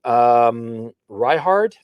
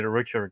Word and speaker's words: Richard: Let me bring in Ryhard. Ryhard, how's it going? Hi, you can call me Richard instead. It's pronounced Richard.